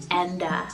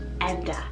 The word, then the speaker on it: Enda: another great uncle's name and his name is enda so e-m-d-a enda now this one means bird and it symbolizes